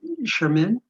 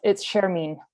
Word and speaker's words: Shermeen: Next up, Sherman. Gosh, I hope I'm pronouncing your name right. I'm sorry. It's Shermeen. Shermeen. Yes. Shermeen.